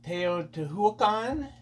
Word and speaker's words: Teotihuacan: pronunciation and the uh the Aztec stress the second to last instead of tan T to t t